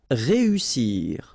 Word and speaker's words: réussir: Then éviter, établir, réussir. Okay, so here, vowel, second vowel here, and then double S. So in that case, you've got to pronounce it like a real strong S.